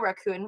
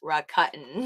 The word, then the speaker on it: Rakuten: my recut nap uh i was calling it raccoon for the longest time but i think it